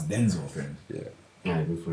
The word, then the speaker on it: Denzel: It's not Denzel. It's Denzel.